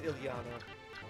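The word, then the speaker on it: Ilyana: ] her name is I mean Ilana would be how I guess you pronounce it yeah it's Ilana does the first letter is slightly shorter it's slightly shorter wait you didn't know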